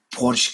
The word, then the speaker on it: Porsche: we can stick to Porsche classic. PorSche is the way how we should pronounce it.